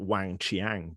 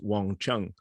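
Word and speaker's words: Wang Qiang: it looks like um it looks like like like like wang chiang but it's but it's not it's it's wang chung and so and and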